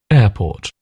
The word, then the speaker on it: airport: airport airport airport So, so sort of ignore the R the R sound. It's just air air and then port.